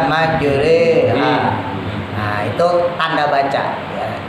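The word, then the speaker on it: مجراها: Jadi sama kayak imalah dulu kalau kita pernah belajar, yang majroha dibaca majreha.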